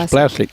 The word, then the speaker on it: Blaszczyk: When you look at it there with a Z, a C, a Z, a Y and a K, it scares you really how you're going to pronounce that, but you just think... The Z's are silent, basically. It's you just think Blaszczyk.